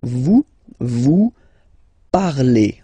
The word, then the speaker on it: parlez: Let's see now for vous parlez, okay? Remember, a z, when you combine them together, you get the sound e.